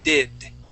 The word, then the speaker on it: did: back of your teeth so instead of saying did okay did think of an R think of a Spanish R did did okay getting